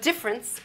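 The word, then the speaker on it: différance: New Concept of difference but difference as you can see spelled with an a not with an E although it sounds exactly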